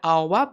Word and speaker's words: hour: We use an before h when it's silent. For example, an hour, but we need to say a horse.